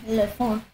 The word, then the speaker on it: Leffant: Yeah, the dev said I nailed the pronunciation, Lefant.